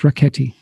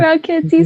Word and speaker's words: Rakheyt: It rhymes with Raketi spaghetti.